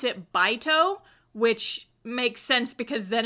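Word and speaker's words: Beit: don't know how I always read it as bait because it is spelled b-e-i-t but in the show they pronounce it bito which makes sense because then it's a pun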